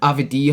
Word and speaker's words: Avdija: Avdija.